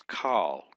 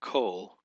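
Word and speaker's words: כל: Actually it's call in this form which means all of each of or every um it also it comes in the um lengthen form or coal but this is call this is a short O right here.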